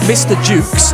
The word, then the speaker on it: Mr. Jukes: This is it's called Mr. Jukes, spelt with a J as in jukebox, but it's Thingy Stedman from the Bombay Bicycle Club, his solo project.